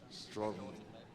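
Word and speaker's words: Stoughton: Is it how you pronounce it? Stroughton.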